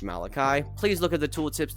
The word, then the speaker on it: Malachi: By the way, the menu is pronounced Malachi.